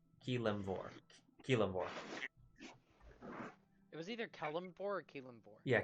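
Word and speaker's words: Kelemvor: It was either Kellamvor or Keelamvor. Yeah, Keelamvor. Keelamvor. I blanked on its pronunciation for a moment.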